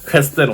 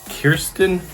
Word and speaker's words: Kirsten: many YouTubers see Kristen Kristen White no it's Kirsten White um I'm sorry there's